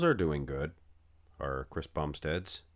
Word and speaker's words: Bumstead: Have you guys ever noticed Bumstead rhymes with lat spread?